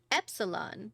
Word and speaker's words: epsilon: Epsilon, short E as in gardenia.